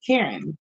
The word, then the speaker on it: Chiron: But anyway, um, Chiron is here, and it's like a lot of people pronounce this Karen.